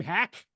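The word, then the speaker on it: Haack: what's the guy's name hack or is it Hawk hul spelled hack but pronounced Hawk and I pretty certain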